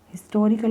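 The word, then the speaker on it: historical: आपका second example है हिस्टोरिकल monument तो यहां पर क्या आएगा यहां पर एच साइलेंट नहीं है यह आपका कंप्लीट आपका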